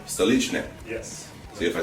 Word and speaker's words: Stolichnaya: Stolichnaya. Stolichne.